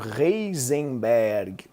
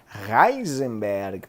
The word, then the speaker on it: Heisenberg: Princípio da incerteza, a gente nem chegou, é o clássico Heisenberg, ou Heisenberg, pronunciando corretamente, evidentemente.